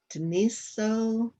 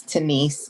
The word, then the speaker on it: Denise: county housing authority to deniso i'm probably saying your name wrong if you could unmute yourself it's denise the o is just there because of the last name oh okay i'm sorry